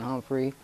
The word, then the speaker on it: Humphrey: just get you to say your name and spell it for me all right hello I'm Humphrey r a y s h o n e